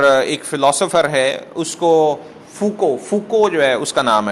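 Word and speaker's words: Foucault: ویسے سپیلنگ سے پڑھیں تو وہ مشال فوکولڈ کے سپیلنگ سمجھ آتے ہیں, لیکن اصل میں فوکو اس کا نام ہے.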